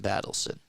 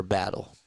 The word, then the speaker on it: Battle: a very good game Jameson battleson or battle Jameson battle I almost said battleson it's not how you pronounce it that looks like